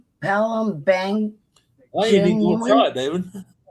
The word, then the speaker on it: Palembang: How do you pronounce that? Palembang I didn't know that, David.